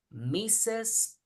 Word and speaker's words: Mrs: titles for example M RS Mrs RS is pronounced mes misses is the um married woman yeah like Mr